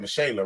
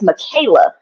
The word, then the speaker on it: Micha: I was born because people mispronounce my name all the time they think it's Michaela so the Persona Micha